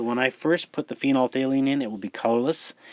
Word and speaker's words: phenolphthalein: use the one called phenolphthalein and member the pH is silent so pretend it's not there phenol valine which is colorless in